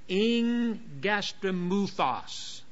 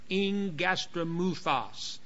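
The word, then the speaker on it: ἐγγαστρίμυθος: Now watch what how I'm pronouncing it. It's a compound word. Ingastromuthos. Ingastromuthos.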